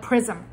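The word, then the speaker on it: XRISM: We pronounce it like prism with an X.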